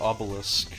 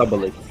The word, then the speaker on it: Obelix: Is it Obelix or Obelisk? That's how you pronounce It's it. Obelix, Asterix and Obelix. Okay.